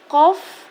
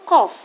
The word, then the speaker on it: qaf: Huruf qaf, ya. Huruf qaf keluar dari pangkal lidah, menempel pada bagian daging dari langit-langit atau bagian yang lunak. Contoh pengucapannya sebagai berikut.